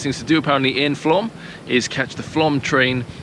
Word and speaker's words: Flåm: guys, and welcome to Flåm, or Flåm if you want to say it properly, which is a little